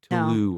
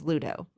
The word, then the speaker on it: Ludo: His name's not Trevor, it's Tulu or something. It's Taryn, but the character's name is Ludo. See, Taryn and Ludo. Okay, you were close.